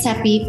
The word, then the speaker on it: Seppi: My name is Seppi, rhymes with Peppy, and I'm a Texan living in Spain.